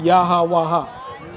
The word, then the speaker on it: Yahweh: So when you look at the Tetragrammaton, it's pronounced Yahweh, right?